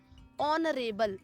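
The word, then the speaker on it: honorable: जैसे यहाँ देखें ऑनरेबल, यहाँ एच आपका साइलेंट है, और ओ आपका क्या है, वॉवेल है, और हम बोल भी रहे हैं तो ओ ही आ रहा है उच्चारण में, प्रोनाउंसिएशन में, तो इसके आगे हम एन का यूज करेंगे, ओके।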